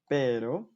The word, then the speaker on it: pero: Мягкий, когда между гласными. Por ejemplo, например, pero между и о, caro между и о.